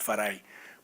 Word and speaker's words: Farai: when I was born I've anglicized it it's actually pronounced farai but very early on